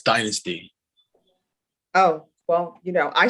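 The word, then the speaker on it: Dynastie: So how do you pronounce her name, Mr. Rodriguez? It's Dynasty.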